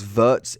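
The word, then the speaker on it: Wirtz: that you've got uh if it's verts it's how you say his name i believe i saw in the comments so thank you for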